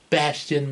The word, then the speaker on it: Bastion: gx the bridge when alexis kept getting bash's name wrong it's bastion myself hey bastard bastion bathtub what bastian bit